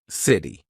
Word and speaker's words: city: This is when T sounds like a very quick D. Very big in American pronunciation. So when the letter T is in between two vowel sounds or dip thongs. All right, we're going to use that quick D. So city, right?